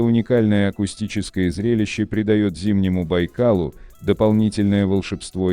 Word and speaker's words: Байкал: Русские первопроходцы, проникшие в эти земли в 17 веке, сначала использовали венкийское название море Ламу, и лишь позже позаимствовали бурятское наименование, которое стало произноситься на русский манер Байкал.